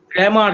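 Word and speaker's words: Cramer: আরেকবার বলুন দাদা বুঝতে পারছি না ক্র্যামার ক্র্যামার সি আর এমই আর ক্রেমারস রুল ক্রেমারস রুল এই যে বানানটা এখানে লেখা আছে দেখো সি আর এমই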